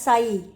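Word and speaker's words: psi: given in the paragraph that is pronounced as psy the water potential symbol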